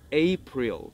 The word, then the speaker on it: April: ¿Te acuerdas que habíamos dicho que la I del six era en la garganta y se decía six? Ahí tiene concordancia el hecho de que la I se pronuncia en la garganta y la L también. Por eso es más fácil pronunciarlo de esa manera.